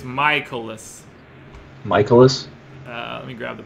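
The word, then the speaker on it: Mikolas: So it's Michaelis. Okay. All right, Miles Michaelis. And I always want to call him Mike. I don't know why. I'm always enunciating the middle syllable.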